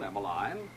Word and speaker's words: Emmaline: Emiline, it's Emiline, Mr.